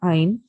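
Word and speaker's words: ع: near a smear again make sure that you pronounce the letter Ein instead of making a jerking sound um finds uh sound should come out of the middle of your throat a smear la hello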